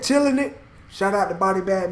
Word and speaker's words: Chillinit: the Australian man shouted chill chilling it that's how you say it chilling it shut out the body